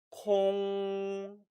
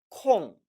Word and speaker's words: 空: 콩 일성으로 쓰였기 때문에 이것은 형용사로서 비어있다, 비다라는 뜻이 되는 겁니다. 반면에 콩 사성으로 발음되는 경우는 명사이기 때문에 틈, 여유라는 뜻이 된다는 것이지요.